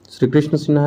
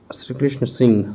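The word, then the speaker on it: श्रीकृष्ण सिंह: श्री कृष्ण सिन्हा है, श्री कृष्ण सिंह सही प्रोनाउंसिएशन है, श्री कृष्ण सिंह।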